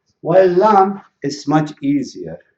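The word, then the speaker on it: لام: So this is the letter Lam, the name of it, Lam, but it is the pronunciation, it is L.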